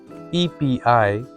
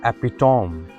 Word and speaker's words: epitome: EPITOME. It is not epitome, but actually it is epitome.